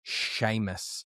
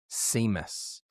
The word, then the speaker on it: Seamus: First of all, bro, it's Sheamus, not Seamus. So, it's spelled S E A M U S, but it is pronounced Sheamus.